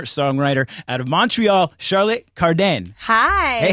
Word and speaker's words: Cardin: at home in French so I say k but cardan or cardan is more than fine okay C day if